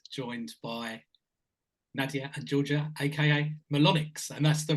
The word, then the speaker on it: Melonyx: and joined by Nadia Georgia AKA melonics and that's the right way to pronounce it isn't it yes indeed I'm good